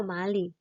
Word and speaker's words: 玛丽: Mary itu diganti dengan kata Mali gitu.